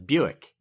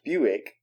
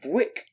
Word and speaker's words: Buick: And it looked a lot like the word quick. So my brother and I called it Bwick. Which isn't that funny. Because it's perfectly logical that we would call it Bwick.